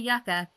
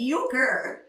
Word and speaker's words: euchre: You make us play yucka at It's not yucka. That's the app. It's uker.